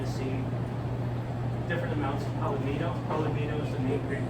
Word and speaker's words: palomino: see different amounts of palomino. Palomino is the main grape used in this. Can you spell that? Like jalapeno, but with an M.